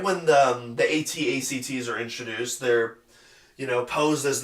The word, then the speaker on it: AT-ACT: And then, of course, the entire Scarif sequence in general I like, except for the AT-ACTs. Don't you dare pronounce them AT-ACs.